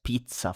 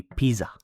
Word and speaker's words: pizza: Then we have pizza. For example, this one has the double zed. If you had one zed only, it would be pizza. You know, it's very different and that wouldn't mean actually anything.